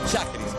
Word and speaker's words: Schajris: breve breve y corta Cómo se dice esiris oiris o cómo es shis sheris ya porque me dijeron en el Twitter y me dijeron pronuncia bien sheris preparados entonces para escuchar